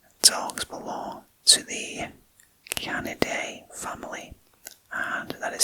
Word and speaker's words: Canidae: Dogs belong to the Canaday family, and that is spelled Canidae.